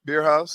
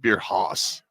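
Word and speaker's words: Bierhaus: still called Beer House beer house yeah it's not beer Hos Hos it's German H beer house all right anyway that's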